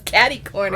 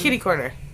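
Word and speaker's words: kitty-corner: make sense it doesn't no it's kitty corner although it doesn't really make sense either way does it what does it even mean I don't know but kitty corner sounds better than S like I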